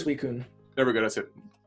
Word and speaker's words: Suicune: Susina, how do you say? Suicune.